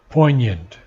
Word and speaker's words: poignant: understanding is poignant and many people pronounce the G but the g is silent poignant means piercing or incisive